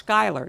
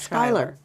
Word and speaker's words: Schuyler: SHERYL MCCARTHY: I think I've been mispronouncing, it's "Skyler" not Schuyler.